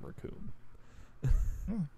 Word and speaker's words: Raccoon: And I also really like the name Raccoon. It rhymes with Doom.